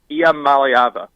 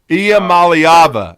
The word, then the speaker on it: Iamaleava: But it's Iamaleava. Iamaleava.